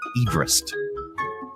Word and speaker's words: Everest: And that's how his last name was pronounced, Everest.